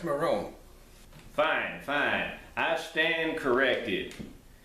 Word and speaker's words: Moron: riches Michael Moore on let's get started it's Marrone beg your pardon it's pronounced my room fine fine I stand corrected now Michael is